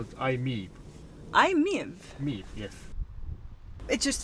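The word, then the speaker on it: i-MiEV: How do you pronounce it? We call it IMEV.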